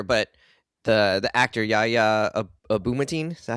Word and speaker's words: Abdul-Mateen: the the actor Yahya Abdul-Mateen, is that how you say it? Abdul-Mateen? Yahya Abdul-Mateen. Abdul-Mateen. Yeah. Yeah, it's it's actually You can it kind of reads the way it looks.